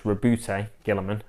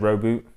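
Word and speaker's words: Roboute Guilliman: return of Robute Gilliman, which is apparently how you say it, because there's been a GW thing video where someone says his name and that's how they say it. So it's Robute Gilliman. I've always said Roboute, but Robute Gilliman.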